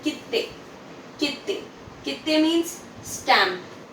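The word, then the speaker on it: きって: भी आप सुनेंगे, खिप्पू, कित्ते, जाशी, एक हल्का सा स्लाइट पॉज आ रहा है, राइट। स्ट्रेट बोलेंगे तो कीते, कीते रॉन्ग है, कीते मतलब की और ते, वेरएज कित्ते मतलब की ते, कित्ते, राइट।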